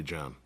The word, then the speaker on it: John: is still silent Sean you put the H in front of the name it's still silent H John would still be John hey your name is